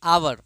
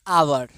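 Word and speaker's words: hour: अब बोलिए आवर। तो हम यहां पे क्या लगाएंगे? एन लगाएंगे। एन आवर एच साइलेंट है।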